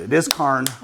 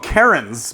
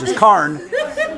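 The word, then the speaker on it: cairn: Uh, people call them Karens, but Karen has a totally different connotation now. C A I R N. It's it's Karen without the N. So, it's just K.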